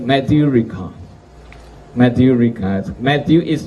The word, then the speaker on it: Ricard: Matthew Ricard. Matthew is not spelled like the English, Matthew in French is M-A-T-H-I-E-U, Matthew. Ricard is Richard, like in English, but this is French. Richard, without H.